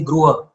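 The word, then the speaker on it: गृह: Like they'll say Gruha, for example. Whereas Hindi speakers end up saying Griha, which is actually it's actually Gruha, right?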